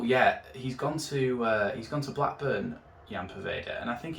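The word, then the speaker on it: Ian Poveda: So firstly, Jan Poveda, and that is how you pronounce his name, it's not Ian.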